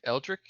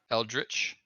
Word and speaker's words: eldritch: elder blast urge Eric Eldrick Earl how is it pronounced I privilege it eldritch I mean I guess you're not super wrong it just sounds fun